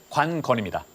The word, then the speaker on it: 관건: 예, 정확한 발음은 관건입니다.